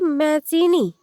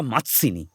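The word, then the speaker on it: Mazzini: পাশ থেকে লাবণ্য ঝুঁকে বইটা দেখে বানান করে পড়ল, জুসেপ্পে ম্যাজিনি। ইনি আবার কিনি? এনাকে তো নাহি চিনি। মাৎসিনি নয়, উচ্চারণটা মাৎসিনি।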